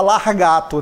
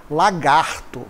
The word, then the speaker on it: lagarto: Não se fala largato, né? A pronúncia correta é lagarto.